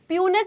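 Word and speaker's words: Punnett: करना है जल्दी बताओ, प्यूनेट स्क्वायर बनाना है या पनेट स्क्वायर बनाना है, जो बोलना चाहो, दोनों सही है।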